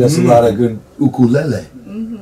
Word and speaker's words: ukulele: Well, you know, Michelle's son Aiden was playing us a lot of good ukulele. Oh, you pronounced it correctly. That's right. Most people are like ukulele, and it's like, come on.